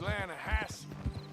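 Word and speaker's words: Lannahatchee: Yeah, but it's pronounced Lanahatchee. Why is everything in English said differently than it's written?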